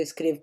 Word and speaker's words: escrevo: Carla escreve, eu escrevo com E, mas eu pronuncio I, ok?